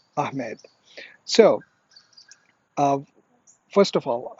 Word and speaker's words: Ahmed: the the whole story earlier on the correct pronunciation is ahmed and if you're from pakistan or from the subcontinent from india or bangladesh most commonly people say ahmad and if you're from turkey you probably will